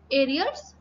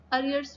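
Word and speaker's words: arrears: गया, it will be एरियर्स of rent. अरियर्स भी बोलते हैं कई लोग. सो जो भी आप प्रोनाउंसिएशन फॉलो करें.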